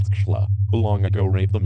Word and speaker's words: Tesla: that there still is a Nikola Tesla, pronounced Tschla, who long ago gave